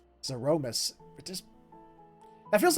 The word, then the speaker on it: Zeromus: Since November 23rd, 1991, I have been saying Zeramus. And they have a different pronunciation altogether, and it's just like, it hits so weird on the ears because it's not the way I've been saying it.